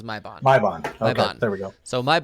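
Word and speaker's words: Maibagne: go look at it m-a-i-b-a-g-n-e yep that's it oh my bond that's that's how they pronounce is my bond there we go so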